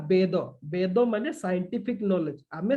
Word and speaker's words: वेद: हमर evolution of वेद वेद गुडा सब आसिला केमिति ओके इवोल्यूशन ऑफ वेदस के वेदा कहउचंती सेमिति कहबेनी बुझले एक्चुअल प्रोनाउंसिएशन करिवे सेटा होची वेद नॉट वेदा हैला जदि सेमिति हि